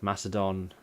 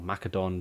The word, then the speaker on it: Macedon: Spartans and Athens and Macedon, or Macedon, depending on how you want to pronounce it, because both ways I think are acceptable.